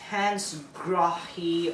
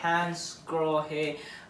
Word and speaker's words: Hansgrohe: a manufacturer that's very difficult, at least, to pronounce. Hansgrohe or Hansgrohe, Hansgrohe.